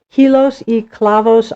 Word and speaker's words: Hilos e Clavos: Now, your your artwork is called, if I pronounce it correctly, Hilos e Clavos Art.